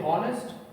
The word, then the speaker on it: honest: what do we say honest not really this remains silent and we say only honest so these are few